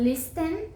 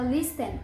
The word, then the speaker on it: listen: Se escreve listen, mas a gente não fala listen. O T, ele é mudo. Então, é listen. Ouça.